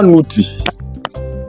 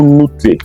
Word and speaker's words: ⲚⲞⲨϮ: En démotique, voilà comment ça s'écrit. En démotique, nous écrivons de la droite vers la gauche, donc met. Maintenant, nouti. Nouti ou nouté, qui veut dire Dieu.